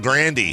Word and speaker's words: Grande: Grandy. Grandy. That's how she that's how it's supposed to be said.